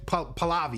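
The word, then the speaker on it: Pahlavi: or whatever the Uh Paliv Palavi.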